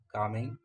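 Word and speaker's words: calming: कामिंग देखिए एल इसमें जो है वह साइलेंट है।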